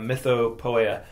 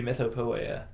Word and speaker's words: Mythopoeia: say it like that then I think maybe it should be myth POA um maybe I'm just over pronouncing it there well poea makes you think of poetry right so it's a poem about myths right so mytha POA probably would be more close to what the